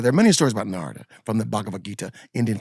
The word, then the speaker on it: Narada: So Narada, but he said Narada, more like Narada, like Florida, 3 syllables. Narada.